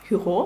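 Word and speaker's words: Hugo: письменника французького Віктора Гюго Віктора Гюго правильніше так тому що наголос на останній склад французькою він пишеться Ось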